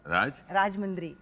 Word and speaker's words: राजमुंद्री: जय जी, ये राजमंड्री में आप पैदा हुई थी क्या? तो प्रोनाउंसिएशन करेक्ट है ना? राजमुंद्री।